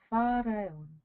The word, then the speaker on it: Faraon: The student will then lull themselves to sleep, pronouncing the mantra Faraon like this.